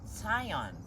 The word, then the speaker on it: Zion: - That’s why it’s City of Zion with a Z. - Right. - But in Hebrew, it’s actually tsade. - But it’s actually tsade. - Zion. - Wow! Tsion.